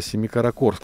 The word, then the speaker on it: Семикаракорск: это молдова опять семикаракорск ударения на о правильные до семикаракорск все-таки семикаракорск спасибо олег написал сураев к